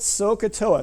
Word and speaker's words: SOHCAHTOA: Good old SOHCAHTOA. So, SOHCAHTOA, it's spelled like this.